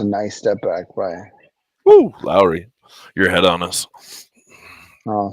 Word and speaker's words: Lowry: Lowry?